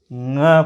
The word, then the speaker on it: ङ: नाक से बोलने से होता क्या है कि हमारा उस वर्ण का उच्चारण नहीं होता है, इसलिए ये इस वर्ण का उच्चारण जो होता है नाक और मुंह के सहारे होता है।